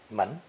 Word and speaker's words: 们: The seventh character in today's lesson is theoretically second tone in origin, but pronounced with a neutral, unstressed tone because it serves only as a plural marker at the end of personal pronouns. Obviously, the door element is the phonetic here, the character being pronounced mun, mun.